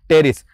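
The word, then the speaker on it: Pteris: से आ गया आपका टेरिस यहां पे पी साइलेंट है लेकिन वो पर से याद रखना कि पी आएगा यहां पर टेरिस आगे ध्यान ड्राई ऑफ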